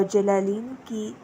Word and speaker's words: جلالین: ہیں۔ بریکٹ میں جلالین لکھا ہوا ہے اور جلالین کا ہجے جو ہے جیم لام الف لا لام